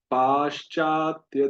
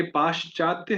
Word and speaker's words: पाश्चात्य: तो पाश्चात्य, तो ये पाश्चात्य है, पश्चात्य नहीं है, इसमें आकार का डंडा है।